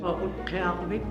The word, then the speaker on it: Utqiaġvik: Although most locals here still refer to this town as Barrow, the indigenous name is actually pronounced Utqiagvik.